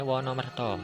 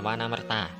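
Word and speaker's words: Wanamarta: baca nih hai oke Bacanya wonomerto jangan wanamerta nanti malah diguyu waru-waru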